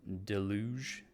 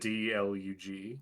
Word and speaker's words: deluge: It's like, oh, let's get in out of this deluge. Is it DLUG? Yeah, GE. Deluge. Okay, can't wait to never pronounce that word right ever again.